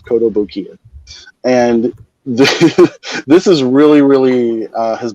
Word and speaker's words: Kotobukiya: It's spelled just like it sounds, Kotobukiya.